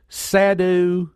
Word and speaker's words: sadhu: in just a second sadu s a d hu sadu suar sverage is that at least phonetically that's the way it ought to sound July 20th of 2014